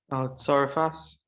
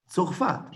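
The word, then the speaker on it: צרפת: How do you say France in Hebrew? Oh. No. It's go ahead. Yes, go ahead. Tzarefas. Okay, Lila. Most people would say Tzorfat, right?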